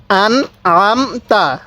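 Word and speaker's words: أنعمت: এরকম ভাবে শিখবো এরপরে আন আমতা আন আমতা অনেকেই যে ভুলটা করি আনে আমতা পড়ি না এখানে স্পষ্ট করে আনটা উচ্চারণ করবো আমতা আলাইহিম আলাইহিম তাহলে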